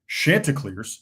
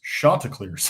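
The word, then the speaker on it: Chanticleers: It's not Shantaacars, it's Shantaa clears. He made that clear.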